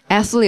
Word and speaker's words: athlete: athlete. 여러분 발음을 못할 것 같아요. athlete. 자, 소리가요. athlete. 맞아요. 혀만 내고서 하면 돼요. athlete. 뭐 별거 없잖아요. 이빨하고 이빨 사이에 혀 내고 이렇게 하면 되는데.